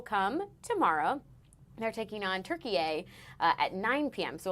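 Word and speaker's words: Türkiye: Uh and yes, in case anyone's wondering, Turkey is the new way to pronounce Turkey.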